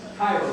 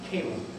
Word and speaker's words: Cairo: We know that it's Cairo, the largest city in Africa, the capital of Egypt. They pronounce it Cairo, like the syrup.